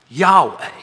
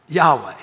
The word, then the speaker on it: Yahweh: this in a minut it's kind of pronounced but not really Yahweh Yahweh in English that Yahweh is translated